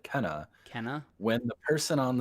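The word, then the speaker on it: Kena: canna kina i i don't remember what it's pronounced kina bridge of spirits is it kinah so the devs when they talked about it said kenna kenna when the person on the street talked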